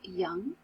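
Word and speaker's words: Jung: Psychology by Carl Young we do pronounce his name Carl Young and just like with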